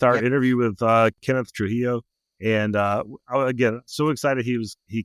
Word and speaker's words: Trujillo: with us about it is the star Kenneth Trujillo.